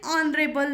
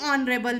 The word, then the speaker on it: honorable: An honorable man. We will not write here a honorable man because here H is silent.